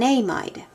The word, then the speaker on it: amide: to call this acetamine notice that there's a little bit of a pronunciation issue here amides but when you're saying it you say amid um just make sure